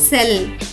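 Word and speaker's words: cell: కాబట్టి ఈ పదం యొక్క ఉచ్చారణ అవుతుంది సెల్. కెల్ కాదు, సెల్.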